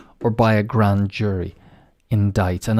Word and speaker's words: indict: by a grand jury indict and as you can see the sea is silent the next one is